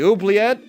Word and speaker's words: oubliette: to look it up i think it's like French or something it's in origin at